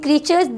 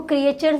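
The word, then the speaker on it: creatures: Make a list of living क्रीचर्स. इसको क्रिएचर्स नहीं पढ़ते चिल्ड्रन, इसको क्रीचर्स पढ़ते, राइट. ए यहाँ पे साइलेंट है.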